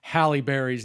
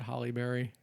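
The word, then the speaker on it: Halle Berry: that I was mispronouncing Halib Berry's name throughout the last episode. I said Holly. I've always said Holly Berry. It's Halibberry. I apologize.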